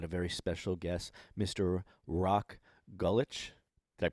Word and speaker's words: Rok Gulič: Rok Gulič. Did I pronounce it correctly? That's pretty good. Rok Gulič, yes.